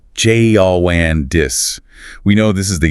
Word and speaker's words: jaundice: The noun is jaundice, jaundis.